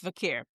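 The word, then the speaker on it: Vaquer: Vicker, it's so weird with that the QUER. Like, I want to say Vicker, but technically it's Vacker, but it's Vicker. That's how she pronounced it.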